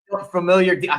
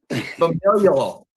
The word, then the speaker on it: familial: Am I saying familiar? Some people are like, "You're not saying it right." Familial DNA some familiar.